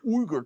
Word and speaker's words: Uygur: I mean, how are they supposed to know it's pronounced Uger? Besides which, it isn't. We made that up just so people could say it. It's actually Uger.